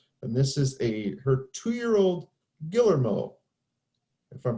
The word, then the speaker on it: Guillermo: by Gail Peterkin, and this is her 2-year-old Guillermo, if I'm pronouncing that correctly. And this is by Tata times Anna. So we'll go ahead and It's Guillermo. Guillermo.